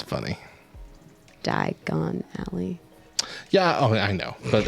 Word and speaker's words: Diagon Alley: love it it's funny die gone alley yeah i know but it's it's a play on diagonally so i always pronounce it diagon alley hanging out i'm very